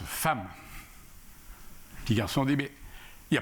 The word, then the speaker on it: femme: m eux se prononcent femme qui a sondé mais ya pas de adam femme a bien vu c'est exact mais c'est comme ça le e de femmes se prononce à et le petit garçon